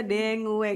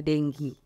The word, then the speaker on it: dengue: Jadi maksudnya letterlah gitu kita membaca dengue gitu ya, tulisannya dengue gitu ya. Juga ada. Cuman mungkin bisa lah kita menyampaikan ke teman-teman semua bahwa mungkin bacanya adalah dengue.